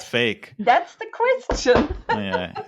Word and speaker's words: PHEIC: Is it a coincidence that it's pronounced fake?